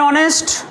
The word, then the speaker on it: honest: Vowel হলেও এ হচ্ছে, আর এটা কনসোনেন্ট হলেও উচ্চারণে অ হচ্ছে তাই অ্যান।